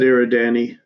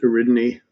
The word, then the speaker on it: Eridani: I've always said Eridani. Ray pronounced it Eridani, and I went and looked it up, and actually either one's good.